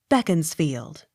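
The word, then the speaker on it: Beaconsfield: sounded spelt a-r-b-u-t-h-n-o-t pronounced arbuthnot spelt e a-r-u-n-d-e-l pronounced arundel b e a c o n s f i e l d beckons field b e a u c h a m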